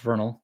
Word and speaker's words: Vernal: For example, one story involved a 13-year-old student, Dale Wood, who attended Vernal, because it's pronounced Vernal, junior high school.